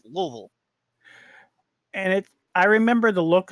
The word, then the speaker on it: Louisville: It's like, you talk to people in America and they say, "Oh yeah, I'm going to Louisville." Mm-hmm. And if you go to anybody that lives there, that's Louisville.